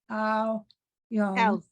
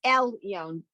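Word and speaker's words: עליון: Mal Ache Al Yon. Elyon. Elyon. Yeah. Mi Melech Malche Hamlachim. Ha Kadosh Baruch. Baruch. Who? Right. Bo Ahem L'Shalom Mal'ache HaShalom Mal'ache Alyon. Except it's Elyon. Don't forget Elyon.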